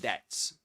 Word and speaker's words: debts: And did you know that debt that that be silent in debt? Yeah, it is silent.